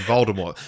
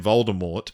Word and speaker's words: Voldemort: to choose the name voldemort which is actually supposed to be pronounced with the silent t fun fact um but